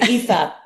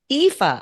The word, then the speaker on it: Aoife: Here is EA Roach. So, I'm going to answer the first question before you ask. And this probably going to be how to pronounce my name. It's EA. EA.